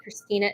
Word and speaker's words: Khristina: Christina is spelled with a KH, which always throws people off.